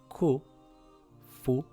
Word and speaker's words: كُفُوًا: It reads Kufuwan.